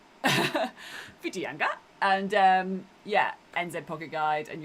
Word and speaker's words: Whitianga: But yeah, search again Whiteinga, which is spelled Whitianga. Whiteinga.